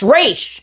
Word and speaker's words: Ra's al Ghul: of people typing away, "That's not how you say his name, it's pronounced Raysh!" Every single time that I mention Razz al Ghul in a video, I deal with an influx of these comments.